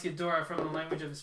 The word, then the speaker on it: Ghidorah: Okay, so we actually we talked about this, how to pronounce it, It's and Ghidorah. you looked it up. It's so Ghidorah, we're saying it correctly.